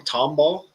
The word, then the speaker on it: Tomball: July 26th at 403 Eats in to is it I'm gonna may pronounce this wrong. Tomball, Texas.